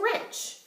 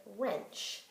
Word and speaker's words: wrench: to conclude the word wrench? Probably the W-R, because the W stays silent and I can hear the R sound.